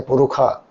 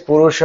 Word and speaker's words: Purusha: Even sahasra shirsha purusha, they won't say purusha, they'd say purukha. Uh that's a chanting of veda they have taken up, but the Sanskrit language is purusha only, there's no purukha.